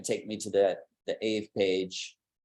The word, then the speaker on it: Aave: So if I click this, it's going to take me to the AVE page, Aave, I think it is actually pronounced.